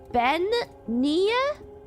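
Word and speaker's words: Bean Nighe: Pronunciation Ben Nia the washer woman of death. Wait, if you want to shock everyone. Damn it. Wait. Bean nia.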